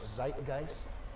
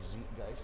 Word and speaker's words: zeitgeist: Geniuses understand that everybody is a unique product by and for their zeitgeist or zeitgeist if you want to go with the more critical pronunciation.